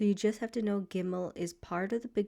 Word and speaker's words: gimmel: So whether there's a dot in gimmel or whether there is no dot in gimmel gimmel will always make the sound g as in goat.